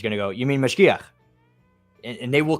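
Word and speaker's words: mashgiach: Mashkicha is how you say it in the feminine. Mashkiach is the masculine.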